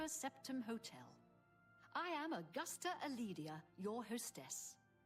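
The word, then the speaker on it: Calidia: I am Augusta Aledia, your hostess. She said her last name was Aledia. She didn't pronounce the C.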